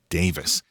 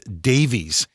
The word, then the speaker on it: Davies: Now, I've heard that their last name should actually be pronounced Davis. But here in America, for literally decades, it's been pronounced Davies.